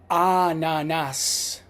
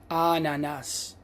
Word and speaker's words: ananas: The letter A is pronounced as ah, ah. An example, in Italian, the word for pineapple is ananas, ananas.